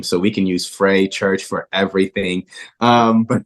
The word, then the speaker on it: Frais: r a i s the S is silent um but yeah Frey Church awesome uh yeah